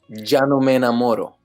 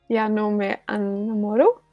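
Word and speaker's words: Ya No Me Enamoro: So so I'm gonna teach you how to pronounce it. All right, you ready? Janome enamoro. Janome enamoro. Janome enamoro. So you kind of like forget that there's a e there. So you forget about the Janome enamoro.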